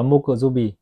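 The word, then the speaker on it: 木曜日: Theo tiếng Nhật họ đọc là Mokuzubi.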